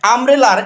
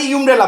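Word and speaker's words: umbrella: ওখানে ইউম্রেলা বলবো। কিন্তু ওই ওয়ার্ডের উচ্চারণ তো আর ওইটা না। ওই ওয়ার্ডের উচ্চারণ কি? আমব্রেলা।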